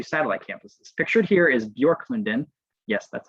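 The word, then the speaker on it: Björklunden: also have two satellite campuses pictured here is bjork london yes that's how you pronounce that it's swedish for birch grove by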